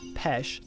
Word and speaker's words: Peche: Peach Island, originally pronounced Pesh after its French name, is a Windsor city park of roughly 80 acres.